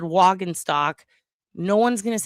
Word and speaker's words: Waguespack: You every single person you hear say his name is going to say it wrong. We had I say Wagus back. They say Wag Gooseback. He just said Wagentock.